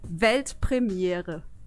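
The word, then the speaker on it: Weltpremiere: World premiere in German it's actually velt premiere yeah do it velt Premiere yeah man that's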